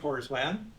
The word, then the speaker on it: Horsland: I'm Horsland, and it's spelled horse land without an E. So just make it softer.